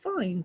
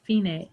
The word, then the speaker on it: Fine: then right before measure 29 you'll see the phenate and it looks like fine to you f-i-n-e but it's pronounced phenae and it means the end and that can